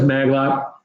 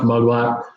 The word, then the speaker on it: Magma: month yes you look it says magma it's pronounced Magua go see those videos